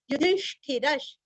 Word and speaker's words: युधिष्ठिरः: युधिष्ठिर, यु धी और ष्ठी दोनों तीनों भी शब्द रस्व है और र के आगे विसर्ग का उच्चारण आधा श, युधिष्ठिरश, युधिष्ठिरश। क्यों श आया है तो आगे शांत नव में श आया है, इसलिए विसर्ग उच्चारण आधा श।